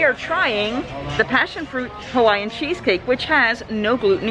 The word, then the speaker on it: Hawaii: location on the list hawaii yes it's a w and it pronounced a v now we've been